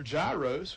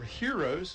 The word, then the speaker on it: gyros: like a one of their gyros or heroes it depends on how you pronounce it that's just as tasty